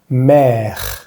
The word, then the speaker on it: mère: Para decir madre vamos a decir mère. Démonos cuenta que en este caso, en esta palabra, la E francesa está al final de la palabra, por lo que no la vamos a pronunciar.